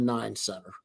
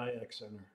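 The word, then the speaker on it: I-X Center: Is it pronounced the Cleveland IX Center or the 9 Center? We've always called it the IX Center.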